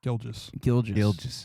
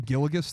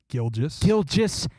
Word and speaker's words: Gilgeous: Gilgeous. Yeah. Is it Gilgeous? Dude, that's a perfect. Have you been saying Gilligus this whole time?